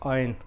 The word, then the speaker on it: iron: another word we have is iron it's not iron it's iron iron IR silence another another word uh car